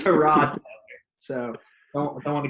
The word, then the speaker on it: Tyrod: We're actually been pronouncing it wrong. If you remember Tyrod. his Hard Knocks episode, it's Tyrod Taylor.